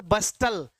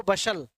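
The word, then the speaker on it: bustle: जैसे आप इसको बोले कैलामिटी, है ना, जैसे मैंने कहा आपसे बस्टल, जबकि होता क्या है? वो बशल।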